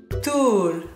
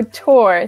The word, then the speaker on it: tour: Tool. Tool. Tool. Tool? Tool. Or tour. Okay, so tour. The correct pronunciation is tour.